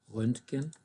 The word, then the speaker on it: Röntgen: In fact, this one is a short umlaut. Instead of Ö, it's an Ö, Röntgen.